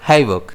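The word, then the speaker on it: havoc: की कंडीशन बन जाना इसे हम प्रोनाउंस करेंगे हैवक जिसमें स्ट्रेस जो है वो एच पर रहेगा इसके सिनोनिम्स हैं डेवस्टेशन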